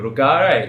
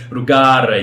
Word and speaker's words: Rugare: Got the R rolling happening there. It's a little bit of the tiny bit of wog in my blood that allows me to do that. Exactly. I love always testing Australians saying my name. Rugare, you've really got to roll the R.